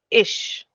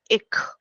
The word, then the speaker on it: ich: Just for example, if I say ish, this means I. Okay. Pronunciation which I'm giving is ish. But if we say this in other way, like in a different kind of accent, it can also be said as ik.